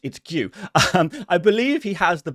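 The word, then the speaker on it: Guéhi: And our final player on the bench is Mark Gue, also known as Mark Google how to pronounce his name. I did. It's Gue.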